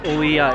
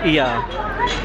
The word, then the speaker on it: Oia: It's not Oia, it's just Ia. Do not pronounce the O. The O is silent.